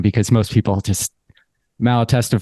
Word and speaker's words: Malatesta: because most people just Malatesta for some reason is just too hard. Although it's much easier because phonetically it's exactly how it sounds, where yours just gets a little tricky there with the last T.